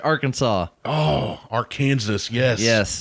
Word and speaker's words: Arkansas: pronounce it correctly like our Kansas Yeah. If you if you pronounce it Arkansas incorrectly per state code, the only acceptable pronunciation is three syllables. Arkansas. Arkansas.